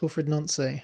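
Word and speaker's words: Wilfried Nancy: He's French, isn't he? So it's Wilfred Nancy.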